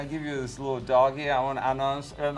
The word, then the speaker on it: Dogeee: Actually, pronunciation is doggy, as a doggy, but we spell D-O-G-E-E-E, three E's.